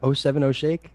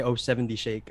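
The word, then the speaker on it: 070 Shake: oh you owe seven how do you say it again oh seven o'shake yeah i always say oh seventy shake uh oh seven oh shake really solid album it's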